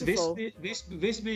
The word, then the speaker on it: Visby: you'll ever go to walk in fby or fby I don't know how to pronounce it during the mid evil uh yes yes visby in gotland um I I really